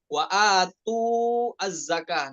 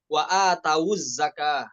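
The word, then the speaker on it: وَآتَوُا الزَّكَاةَ: Wa atawuz zakah, wa atawuz zakah, bukan wawunya bukan jadi sukun, bukan wa atu az-zakah, namun wa atawuz zakah, seperti itu.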